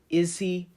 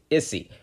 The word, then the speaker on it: Issy: I gotta know, who is Izzy Wolfrith marrying? Am I pronouncing that right? Issy? Yes. Issy, okay, got it. Not Izzy, Issy.